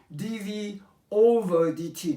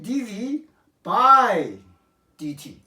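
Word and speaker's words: dv/dt: we do not pronounce dv over dt no we do not pronounce like that we say dv by dt okay so this fraction line we pronounce by dv by dt and this label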